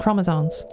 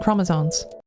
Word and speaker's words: chromosomes: females, and female is defined purely by anatomy and chromosomes. That part's fine, apart from they can't pronounce chromosomes. There is no N. There is no N in chromosomes.